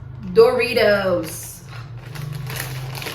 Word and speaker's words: Doritos: A primeira dica é para a pronúncia da primeira sílaba, que normalmente em português a gente fala do. Mas em inglês, como ela não é uma sílaba forte, ela é uma sílaba fraca, a gente vai falar d. Não aquele d forte, mas um d bem fraquinho. D. Re. A tônica tá em re.